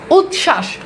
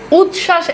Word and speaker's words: উচ্ছ্বাস: না ঠিক আছে আচ্ছা এইবার খেয়াল করে দেখেন উচ্ছ্বাস উচ্ছ্বাস এখানে দেখেন চ ছ অলরেডি একটা যুক্ত ব্যঞ্জন আছে এরপর দেখেন আবার বফালা যুক্ত করছেন তার মানে এই বফলার উচ্চারণ নাই দেখেন আছে নাই উজ্জ্বল দেখেন